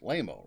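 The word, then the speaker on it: Laimo: That's how I say his name. It's L A I M O. It's Lammo, right?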